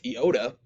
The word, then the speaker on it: iota: copper and lambda so iota is pronounced like the i in intrigue so he points out here it kind of has two different ways to pronounce it you've got our traditional short i sound and then you also have sort of a long e sound it can be either one of those next we have kappa